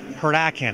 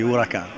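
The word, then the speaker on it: Huracán: because of the performance this is the Lamborghini Huracan am I pronouncing that correctly not really it's Spanish for or hurricane uh it was the name of a bull so that's a new ball it's the uraka and there's a lot of Heritage there in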